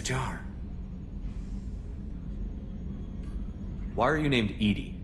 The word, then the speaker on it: EDI: airlock is a jar why are you named Ed Ed is the phonetic pronunciation of Ed that is an acronym for